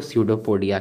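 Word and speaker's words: pseudopodia: और स्यूडोपोडिया कहते हैं, जिसका स्पेलिंग पी से शुरू होता है लेकिन उसको स्यूडोपोडिया कहते हैं।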